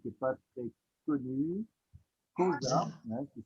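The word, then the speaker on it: Xhosa: Et il y avait ce mot aussi, donc qui n'est pas très connu, Kosa, hein, qui s'écrit X-H-O-S-A, qui vient au bout de Angobera.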